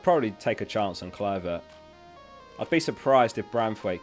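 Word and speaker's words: Kluivert: I definitely wouldn't start Taylor, so it's Branthwaite or Cloyver. Cloyver? I always forget to say it. It's Cliver, isn't it?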